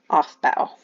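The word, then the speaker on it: Aufbau: in this one so this is pronounced off bow off that principle and what it's pretty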